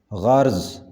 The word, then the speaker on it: غرض: تلفظ ہوگا کنارہ، کنارہ۔ غرض اس کا صحیح تلفظ ہوگا غرض، غرض۔ غرور صحیح تلفظ ہوگا